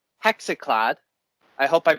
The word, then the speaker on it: Hexenklad: I am joined with Tim, and he is a member of a blackened pagan folk band called Hexenklad. I hope I pronounced that right.